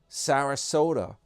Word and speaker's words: Sarasota: Sarasota rhymes with Yoda.